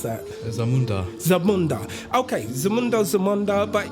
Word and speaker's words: Zamunda: the country zundo or zundo how would you pronounce that Zamunda Zamunda okay Zamunda Zamunda but it's a fictitious